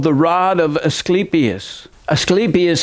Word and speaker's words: Asclepius: the rod of asclepius asclepius has a long e in his name he was the Greek god of medicine and two snakes wrapped